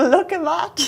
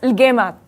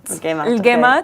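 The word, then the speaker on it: لقيمات: No, I call it like a look-a-mat. Look, I mean, you say it properly? It's al-gaymat. Al-gaymat, okay. Yes, and like they're so good. in the like UAE culture, that's how they are pronounced, and they're so good.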